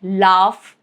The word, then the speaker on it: laugh: GH is sometimes pronounced as letter F, like laugh or tough.